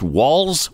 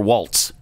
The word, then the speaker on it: Walz: And I've heard it pronounced Walz or Waltz, like the dance. Which is correct? Do we know? Both.